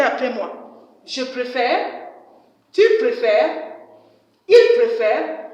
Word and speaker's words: préfères: Tu préfères. Il préfère. Please, children, I don't say préféresse. Remember, S is silent. Tu préfères.